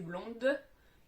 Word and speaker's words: blond: dis "je suis blond" la dernière lettre est un -d pour le masculin donc je ne la prononce pas.